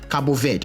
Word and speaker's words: Cabo Verde: you speak Portuguese and she said it is pronounced Cabo Verde yes their president made it into the country